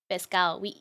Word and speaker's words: pescado: Sometimes we keep the D and we don't say it. Pescao. Should we just... Oh, no, don't say eat it. Pescado asado. Pescado asado. That's how you say it, like when you don't say a letter, you eat the letter, right? So in Spanish, we eat the D in the auto.